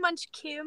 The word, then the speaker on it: Munchkym: It's actually Munchkym because